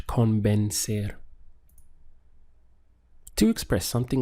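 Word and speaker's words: convencer: Spanish is convinced air so we have three syllables con been ser notice that in the English spelling we have an I here but this changes into a sound and Spanish con bend ser to express something like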